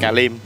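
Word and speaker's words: Klim: đúng không cái điểm cái nón ca mình đọc là cà Lim cà cà Lim cà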